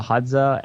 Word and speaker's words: Hadza: Hadza.